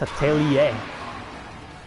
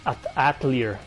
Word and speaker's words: Atelier: yeah tell ya series it is pronounced Atelier I used to pronounce it at a clear like Adler tell yer know it's Atelier aha